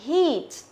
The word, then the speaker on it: heat: phương án B này, chúng ta sẽ phải đọc là heat. Heat. Đó, tức là đọc căng miệng ra heat. Chứ không phải là hit, hit. Nhớ chưa? Hit là sai mà là heat.